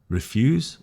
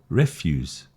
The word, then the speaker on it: refuse: refuse or refuse, address or address, content or content. So you see the emphasis is the noun, the first syllable, the verb is the second syllable.